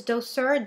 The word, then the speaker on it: Douceur: And again, I know I'm not going to pronounce it correctly. It's Douceur, D-O-U-C-E-U-R.